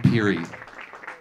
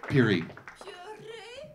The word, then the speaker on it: Pirie: And my name is Peary. Peary. Yes. Let's give it up for. I'm not going to try to pronounce his last name.